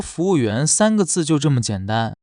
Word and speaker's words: fúwùyuán: You say “fúwùyuán.” Three syllables, that simple.